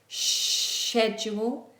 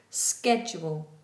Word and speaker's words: schedule: British English is like a sh fricative, schedule. American is schedule, schedule. English, British English, schedule.